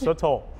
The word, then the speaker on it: sotol: You are saying it right. It's sotol.